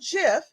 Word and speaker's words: GIF: And so when I officially looked it up, it said, think about Jif peanut butter. That's how I remember it now. Jif.